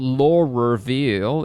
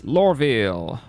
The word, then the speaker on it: Loreville: It's not lore reveal, it's Loreville.